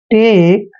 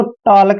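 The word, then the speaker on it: talk: Next है TAL के, इसको टॉलक नहीं पढ़ना है, टॉक। एल यहाँ पे हमेशा साइलेंट रहता है, जब भी के से पहले एल आता है वहां एल साइलेंट रहता है।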